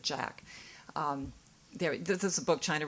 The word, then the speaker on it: Jacques: It sounds like Jacques, but I was told that he pronounces it Jack.